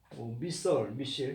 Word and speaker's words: missile: 뭐 무기 이렇게도 쓰는데 미셸 이렇게 발음도 합니다. 미사일도 발음하고요.